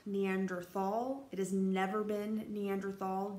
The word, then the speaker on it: Neanderthal: not Neanderthal you sometimes you'll see it written with th or with T it doesn't matter it still pronounced the same way each time Neanderthal Neanderthal not Neanderthal